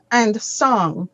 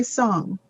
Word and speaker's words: song: So be careful because it sounds as if you are pronouncing sun, which is in the sky. That is S-U-N. Sun. Mhm. So Mhm. sun is different to song.